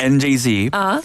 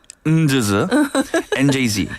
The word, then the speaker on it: NJZ: I did my research so it's njz not njz yes and announced its